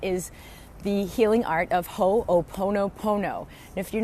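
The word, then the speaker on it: ho'oponopono: done and that is the healing art of ho oponopono and if you're not familiar with Hawaiian words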